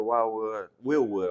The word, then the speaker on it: Wheelwood: So so I had to go with the Wheelwood. I'm sorry, I call it Wildwood all the time. Wheelwood.